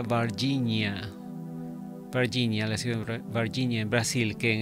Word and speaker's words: Varginha: si mal no recuerdo creo que se pronuncia barginia Virginia en Brasil que